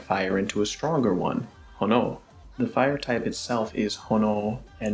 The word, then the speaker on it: 炎: Hono no Mai. You remember how earlier I said that fire can be written as hi? Well, it can also be written as hono.